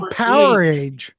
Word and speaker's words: Powerage: but I always said powerage. There's no space though. Yeah. So it's like wattage or voltage.